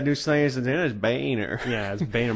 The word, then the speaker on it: Boehner: and i'm sorry alright his name is pronounced BOE h ner no it's spelt that way I'm sorry it's belt that way its Boehner okay that's a boner is your name no